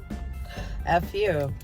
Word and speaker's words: pho: I thought you were gonna say p-h-o okay it's spelled p-h-o but it's burned down Fu and Cameron just will not go to Pho